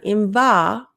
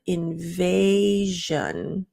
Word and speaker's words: invasion: classes and review Invasion so not inva but invasion okay so not